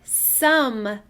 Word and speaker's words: some: This is the word some. Say it. I notice a magic E, but I don't hear a long O sound. That does not play fair. It's a trap.